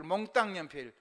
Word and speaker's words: 몽땅 연필: 몽땅 연필, 몽땅 연필. 그 국외음악이 일어나니까 몽땅이라고 읽으면 안 돼요. 요즘 희한하게 한글을 읽더라고. 그냥 글자 써진 되는데 국외음악 되는 대로, 자음접변 되는 대로 읽어야 돼요.